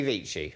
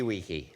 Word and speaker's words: vici: Veni, vidi, vici. Oh. Or Veni, vidi, wiki. Yes. Depending on how you pronounce it.